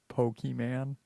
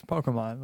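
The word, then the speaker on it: Pokémon: all right young people they're pokeyman people do that dude's a pokey man off it's Pokemon I pronounce it correctly okay sorry No so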